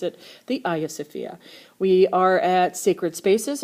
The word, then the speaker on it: Hagia Sophia: You can call it the Hagia Sophia. That's fine. They're both correct. I just pronounce it the Hagia Sophia.